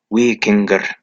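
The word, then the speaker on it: víkingr: The original Norse word is pronounced Vikinger.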